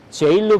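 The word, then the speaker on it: gaol: 포드 Count티 Gol인데 저 단어를 어떻게 발음하냐면 제일로 발음을 합니다.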